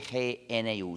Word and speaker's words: GNU: Se escribe G-N-U, se pronuncia en inglés GNU.